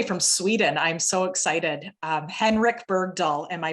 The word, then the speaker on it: Henrik Bergdahl: Henrik Bergdahl, am I pronouncing that correctly, Henrik?